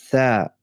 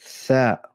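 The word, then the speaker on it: ث: Dieser Buchstabe wird ausgesprochen Tha. Tha. Das ist einfach so was wie ein lispelndes Ta.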